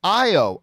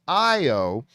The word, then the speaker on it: Ayo: i just pronounced it ao but mary is saying it's pronounced io with no ooh sound short o rather than